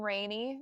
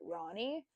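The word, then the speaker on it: Rani: I always pronounced her name Rainey growing up, but then I listened to an audio book and they pronounced it Ronnie.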